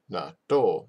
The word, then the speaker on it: 納豆: Gakko, gakko, gakko, 納豆 natto. See, there's that space there.